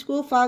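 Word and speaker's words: cough: एच लाफ means हसना इसे भी जी एच को फा का उच्चारण दिया गया तो लाफ फा पढ़ा गया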